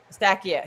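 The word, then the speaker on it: Eustáquio: Estakio.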